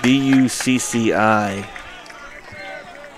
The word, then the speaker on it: Bucci: Got a Bucci. B-U-C-C-I. Bucci. That's what I'm guessing you pronounce it.